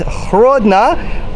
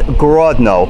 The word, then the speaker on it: Hrodna: it is it is hrodna though on english maps we will see it as Grodno which is the russian pronunciation in the windows of